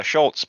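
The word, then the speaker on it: Shutz: um shoots um i think that's how you pronounce that surname i apologize if it is not but it is s-h-u-t-z so shots oh i assumed it would be uh schultz but yeah just shots maybe yeah yeah i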